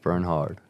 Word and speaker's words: Bernhard: Silent K, silent H, but pronounce the H. Bernhard.